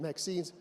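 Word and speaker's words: MXene: and this in actually was added by the inventors uh to to rhyme with graphine because a lot of the 2D materials people are we ring them with graphine so the name Maxine stuck and currently actually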